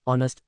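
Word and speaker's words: honest: women answer an explanation ऑनेस्ट starts we the silent H giving it a vowel sound ओ दस requiring N identify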